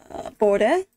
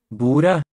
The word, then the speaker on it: bordet: Bordet. Bordet. Bordet. Don't pronounce the D, kinda.